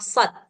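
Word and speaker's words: صٓ: Namanya memang surah shad ya. Jadi bacanya itu shad gitu. 6 harkat.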